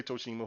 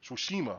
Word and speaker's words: Tsushima: Uh, Goso Tsushima. I say Toshima. Who cares? Let me be country. Was pretty because they say it in the game. They say that their place the proper way. Tsushima.